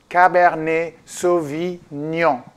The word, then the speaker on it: Cabernet Sauvignon: pronounce cabernet sauvignon we're going to pronounce it the French Way cab air knee cabanne so we know it's a hard one to do to build like neon cabernet sauvignon cabernet sauvignon originally comes